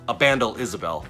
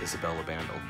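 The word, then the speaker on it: Ibandel Isabel: You pronounce, there's his name right there. Isabel Abandal, I-B-A-N, Well, Abandel Isabel, sorry. I-B-A-N-D-E-L-I-S-A-B-E-L. Abandel Isabel. I was calling him Isabel Abandel.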